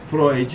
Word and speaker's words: Freud: de Freud aí para pessoal Floyd ou Freud tá tranquilo mas é Freud que sou pronuncia né e a